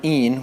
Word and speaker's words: in: mouths to sing in Latin the word een which is spelled i-n means either in or in